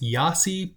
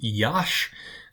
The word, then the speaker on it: Iași: The next city that I lived in, some people will pronounce this Iasi, but it is not Iasi. It is Iași.